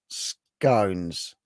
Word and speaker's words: scones: Rhymes with bones. Scones.